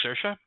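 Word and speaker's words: Saoirse: yes my name uh my name is sercia um how do you spell that and s-a-o-i-r-s-e it's the irish name uh all the elves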